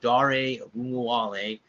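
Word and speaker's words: Ogunbowale: they do there's my mayor there's my man Dario wale yes I had to say that a bunch of times guys to get that down so it's dari Wally yes that's how you pronounce his last name heard on the radio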